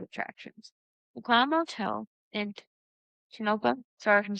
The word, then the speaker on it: Tonopah: The Clown Motel in Tonopah, sorry if I'm saying it wrong, Tonopah, Nevada.